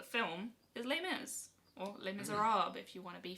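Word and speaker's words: Les Misérables: Or Les Miserables, if you want to be fancy about You're it. not pronouncing it French enough. Les Miserables.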